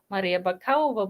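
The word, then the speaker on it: Maria Bakalova: in an english accent the proper pronunciation would be maria bakayova but it's maria for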